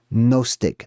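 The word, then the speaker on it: gnostic: Nostik. The g is silent.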